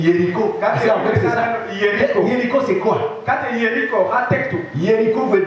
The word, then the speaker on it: Jéricho: Et Jéricho, et j'aime bien la prononciation serrée ici, on dit Jéricho.